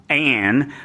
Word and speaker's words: Ayn: you know this because most people think that Ayn's name is Ayn. It's not. It's Ayn, and it's spelled A-Y-N, and this company, Ayn-Styne, is spelled A-Y-N-S-T-Y-N-E.